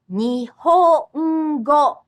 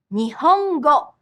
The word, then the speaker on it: Nihongo: The only exception is that sometimes the nasal sound or can be a syllable on its own, like Nihongo. Nihongo. That's Japanese. Listen and imitate some words with this nasal Notice there's an extra beat.